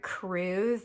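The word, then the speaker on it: krewe: Now, crews are the people that make up the parade, and it's spelled K R E W E. K R E W E. Yeah. Not C R E W like you would think.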